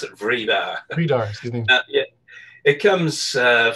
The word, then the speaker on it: Vridar: Okay, I pronounce it Vridar.